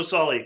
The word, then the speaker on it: Solly: I forgot to ask you, I hope I pronounced your last name right. Yes, Solly.